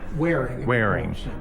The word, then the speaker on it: Waring: So he's probably Fred Warning.